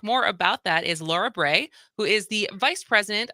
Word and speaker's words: Bray: And it was funny because I asked you at the break, because Bray, so your name actually phonetically makes sense as it rhymes with gray.